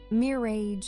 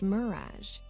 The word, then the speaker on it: mirage: asked Uncle Benjamin, and not waiting for Valancy to give it up, he added, "Mere age and marriage." "Mirage is pronounced mirage," said Valancy shortly, picking up her tea and her beans.